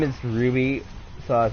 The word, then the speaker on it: RWBY: It's pronounced Ruby, I think. I think that's how the anime is pronounced. But it's RWBY.